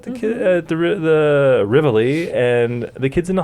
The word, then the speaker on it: Rivoli: what it's actually pronounced rivoli rivoli rivoli okay what was i saying the rivoli well i'm saying it the italian way oh so you're saying